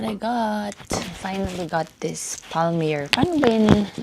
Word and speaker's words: palmier: Finally got this palmier. Paano ba yun pronounce palmier?